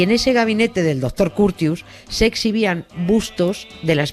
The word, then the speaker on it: Curtius: Curtius se escribe, porque es que yo no tengo morro para cerrarlo tanto y decir Curtius. Como Courtois, como el portero del Madrid, parecido, ¿no? Parecido, pero los franceses Curtius.